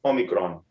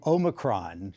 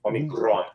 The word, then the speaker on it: Omicron: Long O, Omicron, to Americanize it a little bit. And you got to roll that R, though, if you really want to nail that Greek. Omicron.